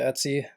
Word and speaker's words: etc: A lot of people pronounce it Etsy.